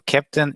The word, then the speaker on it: Keptn: So Captain is a CNCF sandbox project.